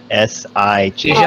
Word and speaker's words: Sijan: I don't know how to say it. Shazan? S-J-A-N. Jean? S-I-J-A-N. Oh, it's an I. Sijan.